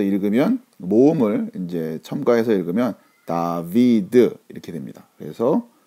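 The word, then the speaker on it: דוד: 자 이렇게 해서 읽으면 모음을 이제 첨가해서 읽으면 다비드 이렇게 됩니다 그래서 다 다윗 성경에 다윗 임금의 이름을 히브리 식으로 발음하면 다 이렇게 되는 자 그리고 다음 단어는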